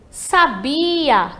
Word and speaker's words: sabia: E sabia, que vai ser ali a né? Entre o sa e o a, temos a sílaba bi, que vai ser a tônica aí.